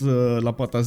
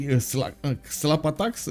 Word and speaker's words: Lapata: times I did mispronounce Lapata's name. For some reason in my mind I should have I wanted to say xlapatax instead of Lapata because of those extra X's, but I understand it's